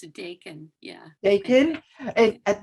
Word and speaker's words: Dakin: have bacon or ducking how is it pronounced thanks for asking it's a deacon yeah they can and at my show and